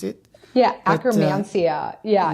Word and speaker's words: Akkermansia: I will find it difficult to pronounce it. Yeah, akromansia. Yeah, it's a tricky one. And that's spelled just AKKERMANSIA, akromansia.